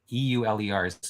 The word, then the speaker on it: Euler: was tutored by the Swiss mathematician Leonard Euler e-u-l-e-rs is actually pronounced Euler um and he is a very